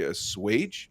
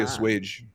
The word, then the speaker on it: assuage: recalibrate my brain because I always say assuage, but there's no W in there. So I'm like always mispronouncing it. Yeah, I always say assuage.